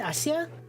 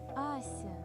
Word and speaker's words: Asha: you how do you how would you say that, Google? How do you say that name? Turkish. No, that doesn't sound right. Asha. Asha. Asha. Duh.